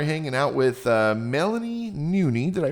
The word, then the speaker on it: Nuni: Now, today uh we're hanging out with uh Melanie Noonie. Did I pronounce that right?